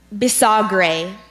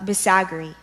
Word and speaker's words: bisagre: Are there any alternate pronunciations? I have bisagri and Bisagre.